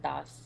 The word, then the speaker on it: Das: And the last name is just Das with a soft D. I don't know what it's called. Das. Yeah, I don't know what that specific D, which is very common in Indian languages, is actually called phonetically.